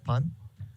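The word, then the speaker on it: パン: found it interesting that the japanese word for bread is pun um which is i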